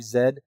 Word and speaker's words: Z: you relearn how to zed? Well, I can do both. I can pronounce it Z or I can pronounce it zed. But I prefer zed because that is proper Canadian English.